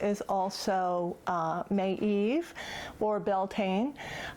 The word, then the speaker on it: Beltane: also may eve or beltane i'm not sure that i'm pronouncing it correctly i believe it's something like bill tin but anyway it's an